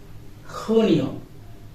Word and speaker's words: Junio: Then Junio. Junio. This letter name is Kota and it will be pronounced like Ka.